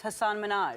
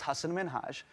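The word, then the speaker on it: Hasan Minhaj: number 14 hassan minhaj everyone that says your name says hasan minaj yeah but the real way you pronounce it and this is a big deal because my parents are here it's hassan minhaj it wasn't probably the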